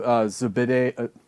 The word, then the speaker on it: Zubaydah: I mean, well, first off, what is the status of your client, Abu Zubaydah? I can't pronounce his name.